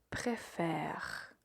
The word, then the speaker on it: préfère: Donc, à l'infinitif, vous dites préférer. Et au présent, vous dites je préfère. Tu préfères. Donc, l'accent change au présent. Il est très important de bien le prononcer.